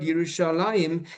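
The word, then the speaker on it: ירושלים: As I mentioned, the Hebrew word Yerushalayim is written in the Bible without a yud before the final mem, but it is pronounced as if the yud was there.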